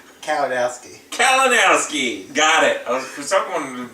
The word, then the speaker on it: Kalinowski: Kalinowski.